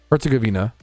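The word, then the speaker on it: Herzegovina: Herzuggavina. Bosnia and Herzuggavina. Okay, that's the American pronun. What about British pronunciation?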